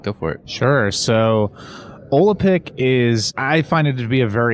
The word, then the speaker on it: Olapic: May mispronounce it. Olapic? Olapic.